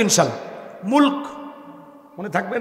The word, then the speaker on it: মুলক: মুলক মনে থাকবে না? আর যদি আপনারা ওইভাবে বলেন বাংলা ভাষায় মুলুক বলে না, রাগ করতেছেন? মুলুক, মুলুক। আর সঠিক উচ্চারণ করতে হলে কিভাবে? মুলক।